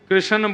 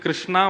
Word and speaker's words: कृष्ण: लाल की जय बंधुओं कई लोग इस नाम को अशुद्ध बोलते हैं कई लोग कृष्ण बोलते हैं कई लोग कृष्ण बोलते हैं कोई कृष्णा बोलता है भगवान का नाम शुद्ध उच्चारण करो नाम क्या है कृष्ण भगवान जय श्री कृष्ण कृष्ण